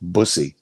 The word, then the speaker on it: Bussy: It's It's like Bussy. pussy with a B.